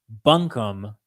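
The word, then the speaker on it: Buncombe: he won Wataga bumkin I keep saying bumkin it's not bumkin Jesus I'm sorry North Carolinians watching this bunkham I'm probably saying it wrong now and Jackson and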